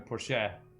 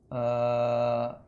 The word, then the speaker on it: Porsche: The R is really weird. Porsche. Okay. Well, now I know. Now I know that when people say Porsche, they're actually saying it correctly with an American accent.